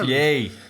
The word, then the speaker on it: Ye: was on purpose um that's how we pronounce ye here yay i know but you say he hurry up oh my